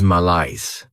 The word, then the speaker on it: malaise: Next is malice. This word has 2 syllables, and the stress is on that second syllable.